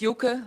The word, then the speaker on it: Joke: speak out in English you said correct yoka most time it's joke they say so I'm very glad